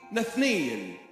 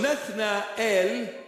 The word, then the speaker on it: Nathanael: So the proper pronunciation is not Nathanael, is Nathanael. And If we say it sort of quickly, Nathniel or Nathneel. So Nathna El, El in Hebrew means God.